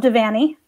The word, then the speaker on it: Devaney: as defined by bob devaney rhymes with fanny say it wrong you get an f who was my professor